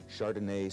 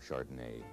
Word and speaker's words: Chardonnay: Chardonnay, sometimes labeled as Pinot Chardonnay. Probably the most often mispronounced names are French wine names.